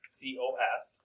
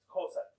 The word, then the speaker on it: cosine: And the abbreviation for cosine is COS. Now, I don't want you to be one of those students that says cos, the cos of t. Okay? Cosine. Even though it's shortened, we still say cosine.